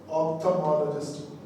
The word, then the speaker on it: ophthalmologist: Ophthalmologist. Here letter L is silent.